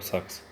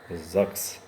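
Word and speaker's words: Sachs: но я его называю САКС. Вот. Сейчас оно у меня тут лежит, я вам покажу. И там, кстати, сзади есть наклейка, сейчас я покажу. На наклейке написано, что правильно считается ЗАГС.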